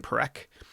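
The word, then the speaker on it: Parekh: to pronounce Michael perk his last name perek um because of that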